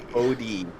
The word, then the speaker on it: Bodhi: Bodhi. Like you skip the H.